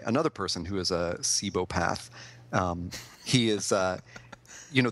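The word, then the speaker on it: cibopath: up today I was pronouncing what I was pronouncing what he is as a cheapo path but when I looked it up today I guess wikipedia told me it's pronounced sebo path so that has rewired my brain now and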